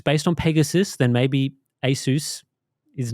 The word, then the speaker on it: Pegasus: name Asus originates from Pegasus as in the winged horse from mythology now Pegasus Pegasus not Peg Asus that's right right so